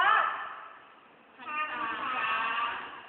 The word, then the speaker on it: พรรษา: หัน อากาศ นะ คะ ร ตัว ที่ 2 นะ คะ เป็น ตัว ออก เสียง เป็น อัน ออก เสียง อัน นะ คะ คำ นี้ อย่าง เช่น คำ ว่า พรรษา เก่ง มาก พรรษา ว่า